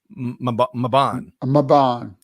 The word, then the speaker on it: Mebane: So D says that it's pronounced with a short A, Maban. And it's about 30 minutes. Mebane.